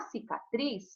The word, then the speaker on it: cicatriz: Então, na cicatriz, qual é a tônica? É o tris, ó.